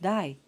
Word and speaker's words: day: Thus, the word day is pronounced die and not day, as in most older variants.